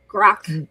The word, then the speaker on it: grok: So grok, and then Spock wrote a book or something like grok Spock, right? Because they went to rhyme with it.